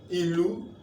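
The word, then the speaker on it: ìlù: Now let's use the do to pronounce the Iliu, and let's see what it gives us. Iliu, do, ilu. Ilu means drum.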